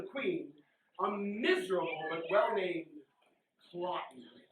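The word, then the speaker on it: Cloten: One of the battles is between the son of the queen, a miserable but well-named Clotten, Rhymes with rotten.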